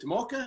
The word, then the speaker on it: Tomoka: their page Tim okay is it Tomoka am i pronouncing that right yes the brewing company welcome brewing